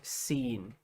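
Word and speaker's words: سين: memorize this symbol and remember that it's called seen, okay?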